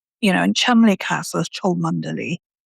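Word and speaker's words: Cholmondeley: Beaver Castle is spelled Belvoir. Yeah. You know, and Chumley Castle is Chanderly.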